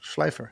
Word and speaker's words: Schleifer: Schleifer. Like Michelle Pfeiffer.